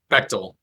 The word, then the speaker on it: Bechtel: at Penn United, at Bechtel, or I don't know how did you pronounce Bechtel? Bechtel. Bechtel, yeah, the American. Okay, Yeah. good. I pronounced it German.